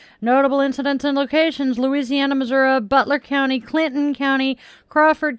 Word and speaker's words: Missouri: Notable incidents and locations: Louisiana, Missouri, Butler County, Clinton County, Crawford County, Sullivan, Missouri, and Big Piney River. And the reason I pronounce it Missouri, and I have learned that this is depends